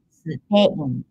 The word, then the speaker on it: スペイン: 日本、スペイン。In Japanese, we don't have double consonants, so it's not SP, but S-U-P, Spain.